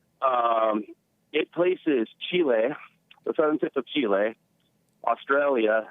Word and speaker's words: Chile: about south africa australia chile chile chile yep i used to pronounce it chili and something else uh